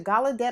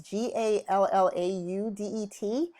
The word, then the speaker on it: Gallaudet: pronounce that word right see the Gallaudet a gala day but it's gee al Lau Det I have one of